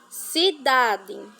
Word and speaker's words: cidade: Cidade. A primeira sílaba é si. Si, apesar de ser com C, tem som de S.